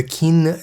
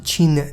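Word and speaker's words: Qin: today we're heading into the kin Dynasty or Chin Chin I believe it's pronounced the Chin Dynasty now uh this episode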